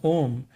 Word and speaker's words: Om: man dome only because the three letters a you an mmm pronouncing combination as ohm may well be generalized